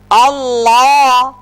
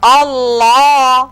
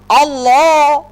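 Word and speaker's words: الله: কি হবে এবার শুনুন আল্লাহ আল্লাহ মনে রাখতে হবে এই লামের উচ্চারণ মোটা করতে গিয়ে যেন ঠোঁট গোল না হয়ে যায় যেমন আল্লাহ এরকম করা যাবে না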